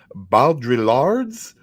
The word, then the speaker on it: Baudrillard: Jean Baudrillard's. You don't pronounce the L's. Baudrillard.